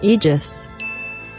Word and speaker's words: Aegis: It is pronounced Aegis.